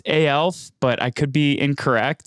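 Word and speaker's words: aelf: working on behalf of I believe it's pronounced ALS but I could be incorrect so could you just share a little bit about what your first blockchain project was sure yeah so it's called L usually we just pronounce it that way yeah so back in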